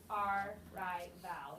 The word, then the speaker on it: arrival: So, like you say, you know, arrival, and we know that doesn't sound right, so, because the first syllable has a schwa, arrival, so then do you re-split it with after the A to?